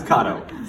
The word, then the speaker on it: Cotto: No, but how do you really pronounce it? From now on, Cotto. Starting right now, it's Cotto.